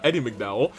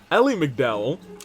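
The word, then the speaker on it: Elie MacDowell: My name's Eddie uh not Eddie McDow, Ellie McDow. Um it's a pleasure to meet you.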